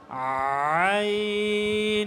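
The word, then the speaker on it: عين: সবাইকে মাফ করে দিন আইন আইন আইন আইন ঠিক আছে এভাবে কি গলার মধ্যখান থেকে প্রথমে আওয়াজ বের করবে এরপরে উচ্চারণ করবে আইন আইন আইন এরপরে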